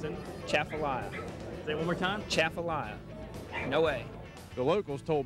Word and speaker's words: Atchafalaya: the chef's allow a basin one more time chef Alya Basin that's the correct way of saying it